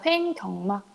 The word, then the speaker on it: 횡격막: 횡격막. 선생님이 경이라고 자꾸 하는데 격막이 맞아요.